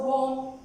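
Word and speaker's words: womb: When B comes after M, when M comes before B, B is silent. Always. Okay, so warm, Tom, we always call it as plumber.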